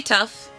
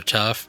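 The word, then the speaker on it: Toph: It rhymes with tough and it's it's hilarious.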